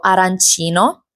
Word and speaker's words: arancino: E mentre stavano cantando c'è stata la battuta sull'arancin, che è un cibo tipico che per alcuni viene pronunciato arancino e per altre regioni italiane invece la pronuncia esatta è arancina.